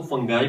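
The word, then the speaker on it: fungi: को नाम दे दें फंजाई। बाज लोग इसको फंगाई प्रोनाउंस करते हैं और बाज लोग इसको फांगी प्रोनाउंस करते हैं।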